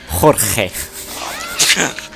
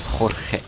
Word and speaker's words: Jorge: It's pretty hard to pronounce George in Spanish. It's Jorge. Okie dokie. Name is Jorge. Jorge.